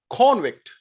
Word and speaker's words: convict: is called convict but when you are using this word as a noun this word is as a noun spelling is same but the meaning is different now how will i pronounce this word it's called convict convict it is as a noun so in this way you can learn word stress now you must be